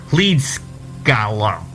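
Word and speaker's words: Hliðskjálf: Oh my gosh, that is a name I don't think I can pronounce. Hlidskjalf. It's Hlidskjalf.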